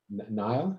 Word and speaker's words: Niall: So let's move on to Niall. Am I pronouncing that right?